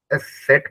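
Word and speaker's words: Eszett: यू um lout और वन लिचर है जिसको हम ए सेट प्रोनाउंस करते हैं ठीक है ये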